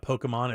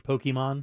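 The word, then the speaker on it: Pokémon: throw that out there it's not Pokemon it's Pokemon no no she's nailing it okay good the stop motion animated series will follow Haru oh yeah baby a concierge at the Pokemon Resort and her interactions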